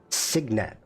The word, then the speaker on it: cygnet: Devlin is giving me, and Gareth is giving me the phonetic pronunciation. Signet. Now I gotta look at the word again. Okay. I don't know where you get Signet from, CY, but if you say so, Signet.